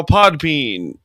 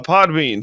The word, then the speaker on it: Podbean: You can find the show wherever you get your podcast on Apple, Spotify, uh now Podpan or however the heck you pronounce that. Uh Podbean, thank you.